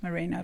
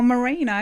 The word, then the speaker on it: Marino: with the name like mine which people often mispronounce as mourinho like the sheep yeah and mourinho yeah moreno oh marino yeah like that yeah in sydney and i